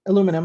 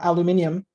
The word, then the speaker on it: aluminium: raw materials like alum aluminum or aluminium depending on how you pronounce it and he goes to